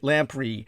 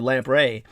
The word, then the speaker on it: lamprey: out there who haven't, lamprey is spelled like lamp, Lamp, like one of our man Jim Forsyth's lava lamps, and then you add the EY to it, RUY, like Ray, REY, lamprey or lamprey.